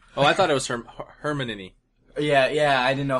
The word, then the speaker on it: Hermione: Oh, I thought it was Hermione.